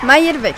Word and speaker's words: Mayer-Beckh: Me refiero a mi amiga Mayer-Bex. ¿Cómo está? Bien. Pronuncié bien el apellido, ¿no? Mayer-Bex, vamos bien.